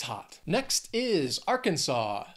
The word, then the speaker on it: Arkansas: hot next is Arkansas three syllables stresses on that first syllable Arkansas this is a common one that that people have a little trouble with because again don't don't think of the spelling don't try and pronounce it based on the spelling you could get all screwed up that final syllable sof saw Arkansas next is the